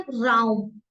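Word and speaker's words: Raum: quark quark mean curd and चीज आर को pronounce करेंगे एर एर एर ठीक है राउम राउम मींस रूम या स्पेस नेक्स्ट है एस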